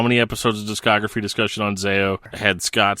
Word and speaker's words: Zao: a billion times and probably don't know how to pronounce correctly but Val it's definitely Zao but the thing is